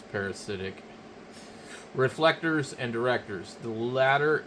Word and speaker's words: parasitic: I found that I always called it parastic, but I guess it's parasitic.